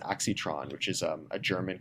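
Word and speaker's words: Aixtron: EXA example is uh I believe it's pronounced aitron which is um a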